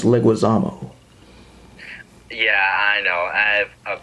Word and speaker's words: Leguizamo: And for the last time, it's Leguizamo. Yeah, I know. I have a bad time mispronouncing it.